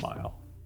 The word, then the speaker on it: Mighell: how do you say your last name Bob mile Bob mile yeah all right Bob mile I